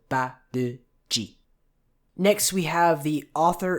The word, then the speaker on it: Barrage: The se part is long, and the Barrage is all short, so Barrage.